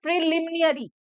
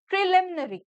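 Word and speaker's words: preliminary: प्रिलिमिनरी, कुछ लोग इसको गलत प्रोनाउंस करते हैं, कुछ लोग बोलते हैं प्रिलिमिनरी, प्रिलिमिनरी। Okay, which is wrong, आप उसको क्या प्रोनाउंस करोगे, प्रिलिमिनरी, प्रिलिमिनरी।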